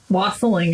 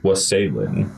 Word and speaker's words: wassailing: I mean, wassailing is how you say it in the song. Here we come, wassailing. Okay. I accept it. It's spelt wassailing. Yeah, no, it's wassailing. Like was sailing.